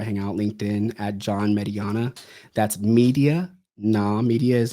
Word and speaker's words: Mediana: How's the proper pronunciation? Is it Mediana? Mediana, yeah.